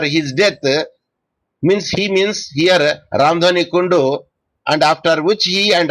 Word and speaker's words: Kundu: I don't know, Kundu or Kondo. I don't know how do you pronounce this. Kundu, sir.